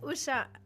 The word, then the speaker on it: Usha: Hi, Usha. Am I pronouncing it correctly, by the way?